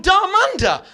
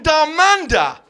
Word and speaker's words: Dharmander: So I changed my name from Darmanda. Danda, which is a wonderful three syllable spicy masala sounding name. I changed it from Darmanda to.